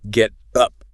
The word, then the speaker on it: get up: But in conversational American English, when a T sound comes between two vowel sounds, it changes. It becomes soft.